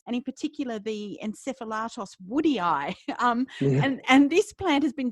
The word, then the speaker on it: woodii: I was about a year into the book before I realised it was woodii and not just woody.